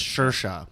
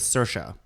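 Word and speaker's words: Saoirse: do talk likea right I thought it was shersha but sersa makes sense sersa sersa uh she's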